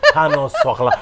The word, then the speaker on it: pain au chocolat: Pain au chocolat. That's Oh, bravo! I knew I had some French DNA in me. Pain au chocolat.